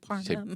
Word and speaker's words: Parham: So how does somebody know if it's Parham or Parham? Luck of the draw, guess, draw a pronunciation tag out of a hat, whatever you want to do.